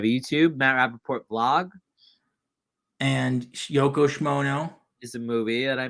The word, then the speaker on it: Yoko Shimono: and Yoko Shimono.